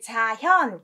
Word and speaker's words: 자현: 독서, 백편이, 자현, 견이 아니라 현자로 읽습니다.